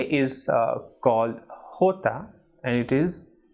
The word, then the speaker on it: calle: Double L is A, for example, calle or llamar.